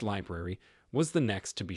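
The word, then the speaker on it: LBRY: other unconnected forms though Brie project pronounced library was the next to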